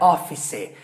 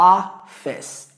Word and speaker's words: office: ó E a festa é duas sílabas tá não é Office é o office office então a face